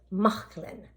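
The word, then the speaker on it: Mauchline: h l i n e where and you pronounce it mcklin look at that another little piece came from my collection isn't that beautiful so it's mcklin wear um I learned so much I had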